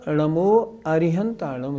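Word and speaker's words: णमो अरिहंताणं: अर्थ गलत नहीं होगा पर शुद्ध उच्चारण नमो अरिहंतानम ही है क्या अरिहंत परमेष्ठी को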